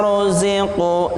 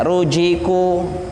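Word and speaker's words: رُزِقُوا: Kullama ruziqu. Zi itu ringan, lebih ringan daripada jim. Jangan disamakan antara za dan jim. Jangan sampai kita membacanya rujiku. Nah, kalau rujiku itu pakai jim. Tapi ini lebih ringan lagi.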